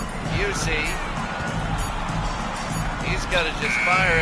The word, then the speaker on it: Busey: Fairweather again to Busey to Drew, like Gary Busey. Remember him, it's the same pronunciation. Busey.